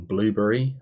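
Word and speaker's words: Blubrry: many moons ago on blueberry I think it's pronounced ibly really spelt BL you BR why I think because that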